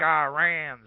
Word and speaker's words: Iran: gonna go over there and we're gonna kick Iran's ass it's pronounced Iran how do I know that I